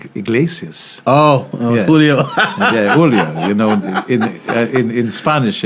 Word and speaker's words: Julio: Okay, I must have said Julia Iglesias. Oh, Yes. Julio. Yeah, Julio. In Spanish, it's not pronounced that way.